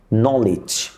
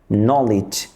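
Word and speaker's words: knowledge: হয় তাহলে ওই খেই উচ্চারিত হয় না যেমন নলেজ নাউন নলেজ নাউন কোন শব্দ যদি ডাবল ইউ দিয়ে শুরু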